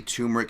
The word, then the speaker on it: turmeric: care package that's the turmeric make sure you're it's t-u-r-m-e-r-i-c there's like a silent R there is why I